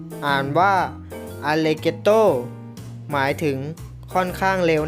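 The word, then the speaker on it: allegretto: g r e t t o อ่าน ว่า อัน เลโต้ หมาย ถึง ค่อน ข้าง เร็ว นะ ครับ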